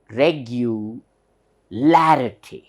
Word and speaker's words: regularity: here You observe regu it is clearly heard regular ity Clarity so this should be pronounced la you know this syllable should be